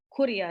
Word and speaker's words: Kuria: Kuria is how they pronounce it.